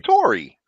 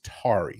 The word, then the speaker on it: Tari: got to talk about she called you Tori I'm coming Mama we're gonna call my name I'll call my real name bro come on it's tari say it right come on let's say